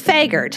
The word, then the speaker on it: Vagard: Somebody in the crowd was happy to know how to pronounce Brenda's last name, and so, anyways, it's Vagard.